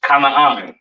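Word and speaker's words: כנען: This is pronounced Kanaan, all right?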